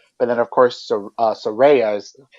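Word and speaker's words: Saraya: then of course uh sorayas that's how she pronounces it now so it's surveya so um so she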